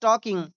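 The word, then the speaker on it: talking: कर रही थी देखिए यहां पर प्यारे बच्चों एल साइलेंट ेंट है। इसे टाकिंग नहीं पढ़ा जाएगा। एल साइलेंट है। इसे टाकिंग पढ़ा जाएगा।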